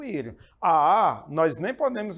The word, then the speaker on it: ir: O verbo ir, ou melhor, ir, na língua espanhola, essa é a pronúncia correta, conjugado na primeira pessoa do singular, yo, sou eu que estou falando.